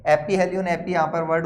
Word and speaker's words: aphelion: तो यहां पर इसको तो हम बोलते हैं पेरीहेलियन, और इसको बोलते हैं हम एपीहेलियन। स्पेलिंग आप देख लेना, उसमें मुझे इतना ध्यान नहीं है, ठीक है।